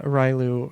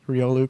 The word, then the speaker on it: Riolu: to go over it I got uh railu from me mispronouncing Riolu um and then I decided hey I'm going to pronounce ryolu correctly and I'm just going